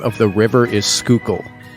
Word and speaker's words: Schuylkill: of the river is Schuylkill not Sky kill were you saying it